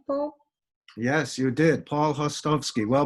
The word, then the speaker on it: Hostovsky: Yes, you did, Paul Hostovsky. Well, my father, who was Czech, he would pronounce it Paul Hostovsky, but the Americanized version is Hostovsky, Paul Hostovsky.